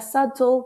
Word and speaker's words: subtle: notas minerales, indicarlo con la palabra subtle, que no se pronuncia la B.